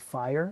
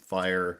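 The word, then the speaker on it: FHIR: Uh, when I started the was FH IIR and some people love to pronounce it fire even though I'm sure that's not can't be right.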